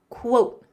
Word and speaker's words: quote: Coat sounds like quote. Sounds like coat, but with the W. Quote.